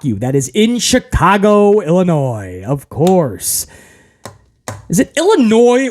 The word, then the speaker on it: Illinois: that is in Chicago Illinois of course is it Illinois or Illinois should I say the S at the end Illinois I don't think it's noise Illinois I think the S is silent anyway any uh anybody